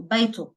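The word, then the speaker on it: بيته: colloquial it's silenced so beetho just an O we're not really pronounce it so again we don't pronounce the ha which is the pronoun over here uh we just pronounced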